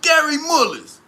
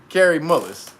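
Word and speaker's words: Kary Mullis: because everybody that ain't his name is gary gary mullis all right so carrie uh carrie mullis um this is the dude who created the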